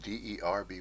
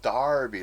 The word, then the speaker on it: Derby: the town that spelled D e rby y is Darby it's pronounced Darby like d a r but no it's spelled